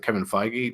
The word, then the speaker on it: Feige: a little bit was what Kevin, is it Kevin Feige?